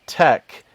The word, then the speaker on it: TeX: but you know because the original one was called tech te X and it was specifically pronounced Tec this was this was